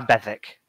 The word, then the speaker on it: Bethwick: was it ben thicke bethwick beth wick oh okay but it's like w a silent w so it's like a bethic yeah yeah okay not